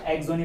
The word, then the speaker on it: Saxony: जी हाँ, यहाँ पे एक्स साइलेंट है, SAXONY, तो एस साइलेंट है, इसको एक्सोनी पढ़ते हैं, AXONY, ठीक।